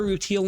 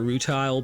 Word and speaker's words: Rutile: Rutil, which I had mentioned earlier, which they call her Routtal in this. I know in Steven Universe they call her Rutile, but Rutiel is her name in Land of the Lustrous, but then